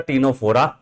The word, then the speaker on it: Ctenophora: First is the Porifera, second one is the Coelenterata Cnidaria, third is the Ctenophora where the C is silent, fourth is the Platyhelminth, and fifth is the Nematoda, that is also known as the Eschelminth.